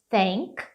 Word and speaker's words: think: You must think. Think. Cuidado que não é think. Think não é think. É um izinho fechado.